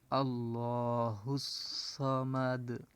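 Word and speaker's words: الله الصمد: হইতো লিল্লাহ এভাবে হইতো কিন্তু এখানে যখন জবরের বাম পাশে তাজদিদ আসছে লামের উপরে তাজদিদ এবং খারা জবর থাকলে সেখানে ল মোটা হবে আল্লাহ আল্লাহুস সামাদ আল্লাহুস সামাদ এভাবে উচ্চারণ হবে এটা হায় পেশ এবং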